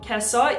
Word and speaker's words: Gissah: Now, the way that you spell Kessa is like Gissah, G-I-S-S-A-H, but apparently it's pronounced Kessa.